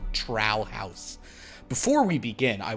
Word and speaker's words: Trow: old spellings and stuff, it actually is spelled like DTROW, so it's like Trow, or however the Scottish people say stuff.